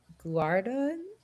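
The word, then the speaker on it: Guidara: Um, and unreasonable hospitality by William, I know I'm going to say his last name wrong. Uh, Guardan, uh, Gui D A R A.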